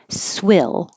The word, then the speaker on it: swill: to pigs swill and the vowel is I as in hit but the word swell